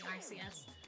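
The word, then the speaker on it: Arceus: Fun fact about the pronunciation of Arus. It's definitely RCS. Uh Nintendo has actually gone back on its pronunciation. because it was originally RCS because in one of the Pokemon games and one of the like Pokemon Tekken collabs, uh RCS the announcer calls them Arus.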